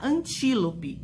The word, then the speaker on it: antílope: servo né antílope antílope o antílope nós temos mais duas sílabas seguintes a sílaba tônica então ela está última penúltima antepenúltima sílaba tônica estando na antepenúltima sílaba é proparoxítona e isso aí paroxítona